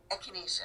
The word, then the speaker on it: echinacea: I don't even know how to pronounce this one. Echinacea. Echinacea.